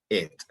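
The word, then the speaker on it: את: Y se pronuncia et.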